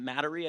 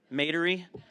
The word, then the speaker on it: Metairie: Well, that was, again, that was in Mattery, I think is how you pronounce it. Metairie, sorry, I apologize.